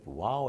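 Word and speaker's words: Waw: If I put a wow here, which I read somewhere, I would be more tempted to pronounce in English as wow. But this is wow, wow, like V.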